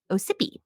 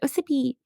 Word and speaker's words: Ossipee: The first snowmobile was invented in Ossipee. Yeah, sounds good. It's like it wanted to be Mississippi, but then didn't want to copy it. So then it was just like Ossipee.